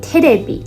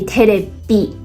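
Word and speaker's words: テレビ: English is television or TV in Japanese is called terebi. I guess the V pronunciation is one of the most difficult letters for Japanese people to pronounce because there isn't a V sound in Japanese language. They have the B sound, but not the V sound.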